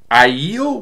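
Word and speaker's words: Aiel: the waist the uh ielts waist i thought it was ale but i think it's pronounced iel and i'll give more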